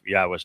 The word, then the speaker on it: Yahweh: There is the yah conclusion of the the name which certainly tells you how to pronounce three of the four letters in Yahweh.